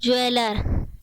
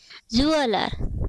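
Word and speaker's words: jeweller: करेंगे जुआ जुआ कलर इसको बोलते ज्वैलर इसका सेवन करते हैं गलत उच्चारण करते हैं इसका वर्णन चाहिए होता है जूलर ज्वैलर ऐसे ही हम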